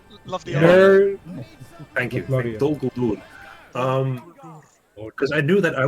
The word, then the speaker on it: Dol Guldur: By the way, did you pronounce that just perfectly again? Very nice. Well, love the art. Thank you. Dol Guldur.